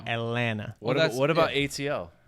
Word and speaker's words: Atlanta: don't really say atlanta you don't really pronounce the last t it's like atlanta what about what about